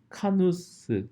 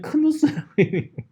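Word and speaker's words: Knuth: 발음을 아니냐 그래서 이제 그 k를 안 읽는 거인데 여기 본인의 홈페이지를 성을 카누스 카누스라고 읽는다 성 레슨 네임을 한국에서는 크누스 ip가 국제 음성 기록은요 한자 이름도 있어요 어쨌든 크누스라고 하기 쉽지만 어쨌든 커누스를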